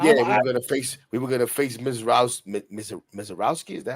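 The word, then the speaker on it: Misiorowski: Yeah, we were gonna face Mizarowski. Is that how you say it? Yeah, Mezarowski.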